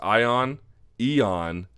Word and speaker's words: Ion: Ion, or I've had it pronounced to me as Eon, and Iwan Cutelaba defeating Henrique de Silva at 22 seconds into the first round.